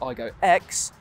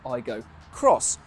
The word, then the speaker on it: Aygo X: And you might think that this is called the Toyota Aygo X, but apparently you're supposed to pronounce it Toyota Aygo Cross, which becomes even more